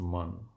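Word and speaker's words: mun: This thinking function of mind is known by Vedantists as man, pronounced man, M-U-N.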